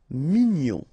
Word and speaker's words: mignon: Mignon, okay, here in that case, G-N-O-N, gnon, mignon. Sourd, final D not pronounced, O-U together, ou, sourd.